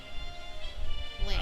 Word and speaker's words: lamb: was I've gotten into this weird habit of pronouncing Lamb with the B and now I cannot stop doing it lamb I would have to like force myself to say lamb lamb is lamb is